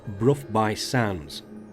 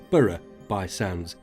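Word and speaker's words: Burgh by Sands: 5.5 miles from Stanwick, we come to the village of Brough by Sands. Now, being a Yorkshire lad, I would have pronounced it Borough by Sands, but I've been reliably informed that it is pronounced Brough.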